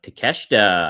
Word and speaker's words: Takeshita: We have Will Ospreay taking on Takeshita.